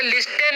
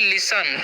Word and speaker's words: listen: तो इसे लिस्टेन नहीं पढ़ना है, यहाँ पर जो है टी जो साइलेंट होता है। तो इसे हम क्या पढ़ते हैं? इसे हम लोग पढ़ते हैं लिसन, ठीक है।